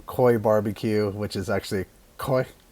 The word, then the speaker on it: Khoi: i said from koi barbecue which is actually koi koi barbecue it's k-h-o-i barbecue koi meaning smoke in